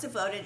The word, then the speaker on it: DVTD: And so Devoted, it's pronounced Devoted, it's DVTD.